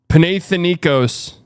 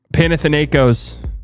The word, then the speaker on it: Panathinaikos: Panathinaikos. Logan, 36 months, 3 years, 3 years of Silently Worship Love. 3 years. Damn. H is silent.